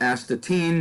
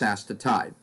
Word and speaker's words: astatine: six are all allergens that would be asked to tide you used to be asked to teen now it's asked to tide next you see the